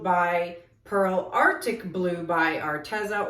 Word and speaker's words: Arteza: Pearl Arctic Blue by Arteza, or Arteza is the proper way to pronounce it, but I just call it Arteza because I think it sounds better.